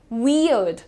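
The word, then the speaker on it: weird: बहुत ही सिंपलीफाइड इसका प्रोनंसिएशन आप देखिए। वियर्ड वियर्ड अड अड पे रुको ठीक है आर पे ध्यान मत दो आप क्या बोलना है वियर्ड वियर्ड प्रॉपर वी और अड वी और अड ये तुम्हारा इंडियन एक्सेंट में भी यही प्रोनाउंसिएशन है वियर्ड ठीक है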